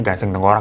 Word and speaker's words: gasiang tangkurak: sana tuh gasing tengkorak atau tulisannya gasiang tangkuorak ya tapi dibacanya gasing tengkorak ya jadi gasing tengkorak